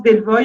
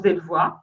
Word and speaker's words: Delvoye: Wim, il y en a qui prononcent Delvoye, il y en a qui prononcent Delvoye, pratique l'oxymore pour faire pièce au cynisme vulgaire de notre époque.